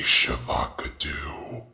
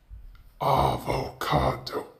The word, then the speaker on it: avocado: Yes, I'm talking about the free Shavakadu. Why are you laughing? Stop laughing. Isn't that how you say it? It's a free Shavakadu. What do you mean that's incorrect? Avocado.